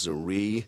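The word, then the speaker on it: Zrii: our company the name of our company is zere that's spelled z r i i and uh we're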